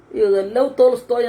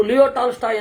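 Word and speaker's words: Лев Толстой: ಅಂತ ಅವರು ಉಚ್ಚಾರ ಮಾಡೋದು ಲವ್ ತೋಲಿಸ್ತೋಯ್ ಅಂತ ರಷ್ಯನ್ ಉಚ್ಚಾರ ಇವರು ಲಿಯೋ ಟಾಲ್ಸ್ಟಾಯ್ ಅಂತ ಇವರ ಉಚ್ಚಾರ ಆಮೇಲೆ ಇನ್ನೊಂದು ಹಾಗೆ ಇದೆ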